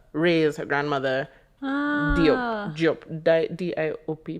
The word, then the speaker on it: Diop: D-I-O-P, pronounced Diop.